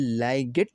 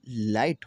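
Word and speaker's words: light: आवाज आई आती है और जी एच खामोश हो जाता है। यहां पर देखें आई की आवाज आई आई की आवाज की तरफ के बारे में पढ़ते हैं। जी एच यहां पर क्या होगा? साइलेंट हो जाएगा। लाइट लाइट यह लाइगेट नहीं होगा। यह लाइट होगा क्योंकि जीए क्या हुआ? साइलेंट हुआ और लाइट रोशनी नाइट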